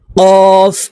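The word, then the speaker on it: ك: তালুর সঙ্গে লাগাইয়া এই কফ হরফ উচ্চারণ করতে হবে আর এই কাফ হরফ জিহ্বার গোড়া থেকে একটু আগে বাড়াইয়া তার বরাবর উপরের তালুর সঙ্গে লাগাইয়া এই কাফ হরফ উচ্চারণ করতে হবে আমরা অনেকেই এই কফ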